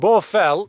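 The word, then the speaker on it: Baugh Fell: one called borfel and borfel is not the borfel in the lake district obviously it's spelt b-a-u-d-h and it's a massive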